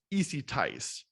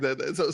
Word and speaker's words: EzyTise: So the spelling is a little crazy, but I figured that it was in order to phonetically get me to pronounce it correctly, So is the last it worked. Perfect.